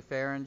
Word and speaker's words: Farren: woof from miss farren you say farron just like you would karen but it's spelled with f so a little fair